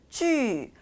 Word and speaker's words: 剧: 자, 또한 이 뒤에 등장하는 이 발음이 그냥 단순히 지가 아니라 쥐라고 해서 원래는 유 땡땡이 발음에서 이 땡땡이가 생략이 되었다라는 거 잊지 않고 기억해 주시면 좋겠죠.